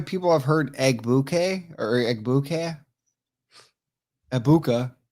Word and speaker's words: Egbuka: You know how many people have heard Egbuka or Egbuka? Egbuka. Everyone's pronouncing the G.